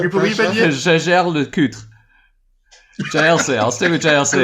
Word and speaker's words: Jaeger-LeCoultre: hit this, maybe Ripley, give us your best pronunciation of JLC without saying JLC. Jaeger-LeCoultre. That's maybe worthy of an edit. Ariel, give us your best effort. What? Jaeger-LeCoultre. Kevin. Jaeger-LeCoultre.